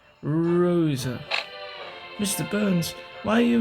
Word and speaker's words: Rosa: You're not pronouncing it right. You need to roll the R. Rosa.